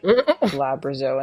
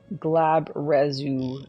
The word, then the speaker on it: Glabrezu: And then Collector Rob gave us a pronunciation of Glabrezo, and it's Glabrezu is how.